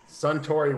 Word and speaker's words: Suntory: You're looking too far how do you pronounce forward. it? Look down, dude. You gotta look down. Suntory whiskey.